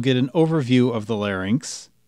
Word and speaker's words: larynx: Note that the correct pronunciation is larynx, not larynx.